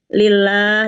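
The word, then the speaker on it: لله: Kemudian lillah, lahnya itu kan panjang 2 harokat ya. Ini masuknya masih termasuk mad asli atau mad tobi'i. Lillah ya.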